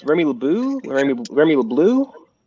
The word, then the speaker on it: LeBeau: little blue I think it's Remy LeBeau like be ei you like bow almost you know you like